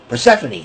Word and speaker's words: Persephone: She married Konosuke Takeshita, and and Persephone from Persephone. That's how it's pronounced.